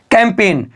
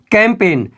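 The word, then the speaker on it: campaign: देखिए यहां पर है कैंपेन क्या बोलेंगे कैंपेन याद रखिएगा जी हमारा बिल्कुल उच्चारण नहीं देगा अगला देखिए फॉरेन क्या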